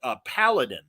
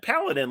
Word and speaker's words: Paladin: And I remember Bendis and I talking about Paladin from Marvel, and he was pronouncing it Paladin like Aladdin. And I'm like, no, man, Paladin, like, you know, like a knight, have gun will travel, you know, the Western and stuff.